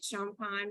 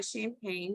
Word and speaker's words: Champagne: my name is I love that she said it right champan but I also go buy champagne just depending on your preference I'm okay with both um I'm a white